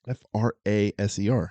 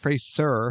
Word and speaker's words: Fraser: about Brandon Fraser Frasier Fraser stop you're his name wrong it's f r a s e r yes Fraser it's not pronounced phras sir phas sir BR so my Brandon Fraser Brendan